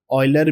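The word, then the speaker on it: Euler: यूलर ऑयलर भी pronounce करते हैं इनको, काफ़ी फेमस स्विस मैथमेटिशियन है।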